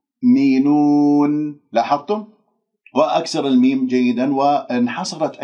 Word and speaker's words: يؤمنون: الياء إلى الهمزة الساكنة لا تقول يؤ شوفوا غلط يؤ ليش؟ لأنه أنا نطقت الهمزة ولا زالت الشفاه مضمومة إذن لا يؤمنون الهمزة هذه من الأخطاء الشائعة فيها أنه ممكن أقلقلها أقول يؤمنون أو أقول همزتين يؤمنون لأني لم أقفل الأوتار الصوتية تماما أنا أفكك الكلمة ثم بعد ذلك أركبها حتى تصير عندي مضبوطة يؤمنون تدربوا عليه هكذا يؤمنون لاحظتم؟